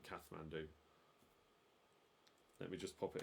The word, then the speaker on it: Kathmandu: It's Kathmandu. That's what the answer was to question 1. Capital of Nepal, Kathmandu. I mean, it's Kathmandu, but Kathmandu.